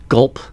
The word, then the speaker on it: Guelph: said did that's that that sign just say gulp yes yeah there's some silent letters in there so yeah basically the